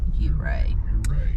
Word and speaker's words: Ouray: It's spelled Ouray, but we've heard it's pronounced Ouray.